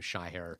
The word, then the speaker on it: Shahir: My mother is the only person that pronounces my name. Shy her.